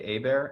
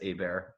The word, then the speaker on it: Hebert: my name is a bear it's spelled nothin like it sounds it's and the last name is h-e-b ERT it looks like Hebert pronounced a bear the French spelling but yeah